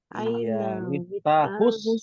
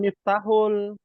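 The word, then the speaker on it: مفتاح: kunci mobil aah ahus Miftahus bukan Miftahul Miftahus Say sayar berarti ada tasdidnya Ustaz Iya betul ada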